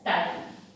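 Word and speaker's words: ptyalin: इट is also written as टाइलिन, T silent है इसका।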